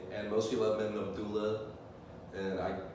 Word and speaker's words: Abdellah: my spelled his name my name is spelled with an E because e is pronounced uh in French and Algeria which is where my parents are from it's a former French Colony so like that's how